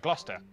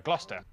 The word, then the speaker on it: Gloucester: gloucester lester worcester gloucester so basically just ignore the c and the e as that comma said the c and e are silent so you just kind of eliminate them from the word and you've got the correct pronunciation although the l i